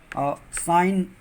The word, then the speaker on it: sign: जैसे rain, REIGN, rain माने शासन करना, साइन, SIGN, जब जी के तुरंत बाद यन आए तो जी का वहाँ पर उच्चारण नहीं करते, परंतु यन पर ही शब्द पूर्ण होना चाहिए।